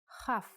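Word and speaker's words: כ: Kaf actually is only pronounced like K when it has a dot inside. Just like Bet only has the B sound when it has this dot. Without the dot, it sounds like Ch.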